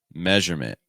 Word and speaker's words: measurement: That first syllable is a meh sound. Meh. This is your S sound like in best or get. Meh. Meh. So meh, measurement.